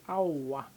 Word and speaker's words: aowa: When you say no, you say auwa.